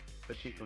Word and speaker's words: Pachinko: Pachinko, not Panchinko. There's no N. There's an N in there, but that's not pronounced that way.